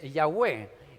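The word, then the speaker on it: Yahvé: un error o sea el nombre de jehová es yagüe y realmente ni siquiera es pronunciable porque no deberían de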